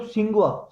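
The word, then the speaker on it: Tsinghua: तो जो ये यूनिवर्सिटी है वो क्या है, तिसुंगुआ यूनिवर्सिटी नाम है, मतलब सिंगुआ, सिंगुआ टी साइलेंट रहता है, सिंगुआ यूनिवर्सिटी है।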